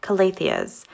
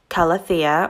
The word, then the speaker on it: Calathea: Quick note, I do refer to this genus of plants in the Marantaceae family as Calatheas. Upon further research, I understand that it can be actually pronounced Calathea or Calathea, but for the rest of this video, I do refer to them as Calatheas.